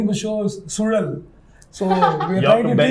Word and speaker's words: Suzhal: And actually, Brahma was trying to teach people how to pronounce Sudal. So he was trying to, roll the tongue. Sudal is very, very unique, and not every language has got it, no?